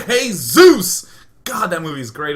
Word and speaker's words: Seuss: are saying things like it's pronounced zoy it's Dr zo not in America it isn't it's Zeus guys it's Zeus like in Good Old Die Hard with a Vengeance my name's Zeus he